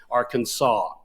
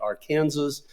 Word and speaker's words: Arkansas: It was settled basically in 1881 to say it be spelled A RK NSA, but it was be pronounced Arkansas.